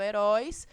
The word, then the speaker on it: heróis: Quando eu falo heróis, né? Então, eu cantando, eu percebo que a sílaba tônica é o róis.